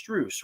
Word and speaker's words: Strus: It's Strus, right?